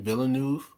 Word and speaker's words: Villeneuve: The fact that Dennis, how do you pronounce his last name? Villeneuve.